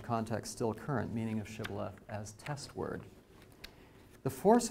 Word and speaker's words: shibboleth: they ought to be pronounced shibboleth and not sibylla if the shibala test